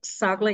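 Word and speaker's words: Çağla: Eu tenho imensa vergonha de lhe perguntar isto, mas doutora Ságua, é assim que se Isso mesmo. pronuncia o seu nome? Sim, E pronto, se não perguntarmos, nunca sabemos, não é? Pronto, a doutora exatamente. Ságua é nutricionista, acedeu a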